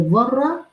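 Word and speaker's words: ذرة: फम यामल मिला जरति ये जर्रा र की नरमी के साथ अदा किया जाता है when you will pronounce they this दाल तो आपकी टिप ऑफ the tongue will come slightly outside from front teeth इनाइजर से तो अरब कहा करते थे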